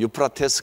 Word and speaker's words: 유프라테스: 그리고 오른쪽에 있는 그 땅이 유브라데, 오늘날 발음으로 하면 유프라테스 강입니다.